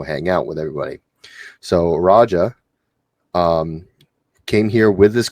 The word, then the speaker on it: Raja: I've gotten is that Reggie, um, I hope I'm pronouncing his name right. I apologize if I'm not. Raja, not Reggie. Sorry. Raja, sorry, not Reggie.